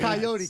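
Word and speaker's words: Kaiyote: Coyote, K-A-I-Y-O-T, probably rhymes with peyote, right?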